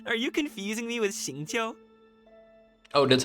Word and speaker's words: Xingqiu: Are you confusing me with Xingqiu? Oh, that's how it's pronounced? Oh, I didn't You get know that. Shincho?